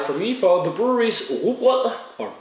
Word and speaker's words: Rugbrød: And 89 from Jakob and a 85 from me for the brewery's Rugbrød, or Rugbrød as Americans say.